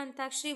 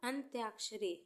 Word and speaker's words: अंत्याक्षरी: कौन सा होगा अंताक्षरी जल्दी में हम बोलते हैं या उच्चारण में हम अंताक्षरी बोल जाते हैं लेकिन यह अंताक्षरी नहीं होता है और अंताक्षरी भी नहीं होता है सही वर्ड आपका क्या होगा अंत्याक्षरी अंत्याक्षरी फोर्थ है आपका